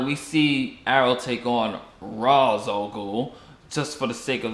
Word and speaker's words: Ra's al Ghul: Yes, Ra's al Ghul, people, not Ra's al Ghul. I tell you, Nolan pronunciation just it's Ra's al Ghul.